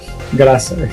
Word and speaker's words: Graça: Well, I want to thank Mr. Ricardo Graça or Garza. That's how you say it, right? Graça. Yes.